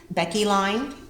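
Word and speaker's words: Becke line: I've heard it's pronounced Becky line, so Beck line.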